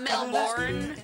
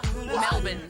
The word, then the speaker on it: Melbourne: Not Melbourne. I love when Americans call it Melbourne. Because it's the way it's spelled, right? So you think it'd be that way, but no. Like a garbage bin. Melbourne.